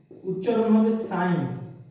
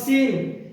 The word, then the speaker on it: sin: ঠিক আছে, এটাকে কি উচ্চারণ হবে সাইন, নট সিন। sin মনে হবে সিন, নো ব্রো, এটা হচ্ছে সাইন।